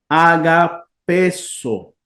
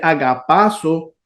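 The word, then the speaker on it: ἀγαπήσω: Al contraerse esto, al unirse, entonces, en vez de decir agapazo, lo que se hace es que se alarga la vocal del tema, por eso se convierte en una eta y no en una epsilon.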